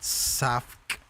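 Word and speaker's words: Savk: is by a guy name a guy named saf it's spelled s a v k and he makes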